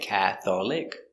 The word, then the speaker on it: Catholic: very good example Catholic it looks like Catholic but this syllable is silent Catholic I am not